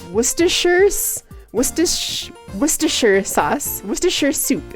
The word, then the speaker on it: Worcestershire: it wrong so many times that the actual pronunciation is gone is it it's worcestershire's Worcestershire Worcestershire sauce Worcestershire soup is that what